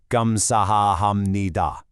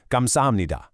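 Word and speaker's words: 감사합니다: "Gamsahamnida". Natural speed. "Gamsamnida".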